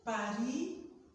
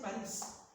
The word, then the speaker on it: Paris: Je voyage pour Paris par avion. See, I didn't say Paris. I said Paris because in French, you know this is silent.